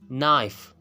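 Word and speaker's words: knife: अब देखिए रूल क्या है, रूल ये है कि अगर एन से पहले क्या आएगा तो जो वर्ड के है वो साइलेंट हो जाएगा।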